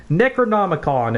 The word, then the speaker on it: Necronomicon: that experience and we're like how do you pronounce it mr jeffco and he's like necronomicon and he stands up and leaves the room